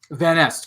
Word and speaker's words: Van Nest: butcher your last name how do you say it it's van est van nest crailey vanesta phoenix sisters